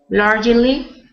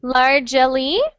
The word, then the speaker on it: largely: Largely. So instead of largely, it's just 2 syllables. So you just say largely.